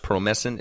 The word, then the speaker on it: Promescent: It's pronounced Promescent.